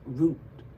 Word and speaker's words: Ruth: Ruth is pronounced root in Russian.